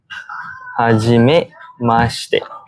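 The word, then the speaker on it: はじめまして: When you first meet someone, you say hajime mashite.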